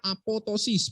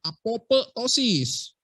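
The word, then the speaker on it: apoptosis: ahli sama dengan apotosis bacanya apotosis bukan apotesis apotosis adalah proses kematian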